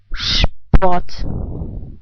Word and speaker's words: Sport: You know, the first R is pronounced like a reduced R sound. The S is pronounced like in shy. The second R is also pronounced like a reduced R sound. So how would you pronounce those two words? Der Sport. I repeat, der Sport.